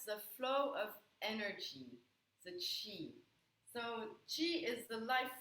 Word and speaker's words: Qi: It's spelled Qi, and it's pronounced Qi.